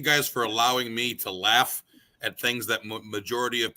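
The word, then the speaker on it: LAFF: got and that was laugh L A FF by the way correct two it rhymes with math that's right yeah no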